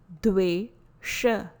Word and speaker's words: Dvesha: Pronunciation is Dwesha. Please note, letter D is a soft dental sound, the, Dwesha.